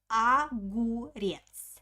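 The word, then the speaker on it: огурец: monoga agurzi the first o i pronounce like ah because it doesn't have an accent aguries pay attention uh on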